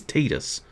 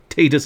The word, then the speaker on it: Tidus: difference to me um i know the correct pronunciation of titus is tidus i'm not calling him tidus titus is a silly name titus makes a lot